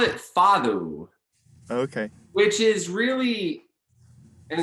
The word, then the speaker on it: fado: Well, he called it fado, Okay. which is really, and it's spelled Fado, Uh-huh.